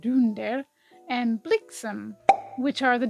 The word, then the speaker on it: Dunder: the last two reindeer were named Dunder actually pronounced Dunder and Blum which are the Dutch words for